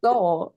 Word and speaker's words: Seoul: But how do you pronounce the city in Korea? How do you say it? Seoul, yeah.